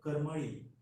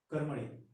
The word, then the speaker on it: Karmali: But the actual name of the place is not Karambolim but Karmali. Karamali. Karmali. The Karambolim is the distorted version.